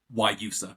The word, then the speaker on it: Guayusa: So Guayusa, is that the correct term? So it's kind of a soft G, and then or is it just a Y at the beginning? Guayusa, pretty much. Yeah, Guayusa.